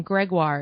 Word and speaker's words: Gregoire: to ask you before we started I've always pronounced her name Gregoire is that correct yeah that's actually really good